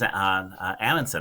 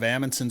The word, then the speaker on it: Amundson: Amundsons in Minnesota, and but most people pronounce it Amundson. Like I would say 90% of the people we meet with the same last name pronounce it Amundson, but he pronounces it Amundson. So he's one of the few other people with the same last name that pronounce it the same way that we do, but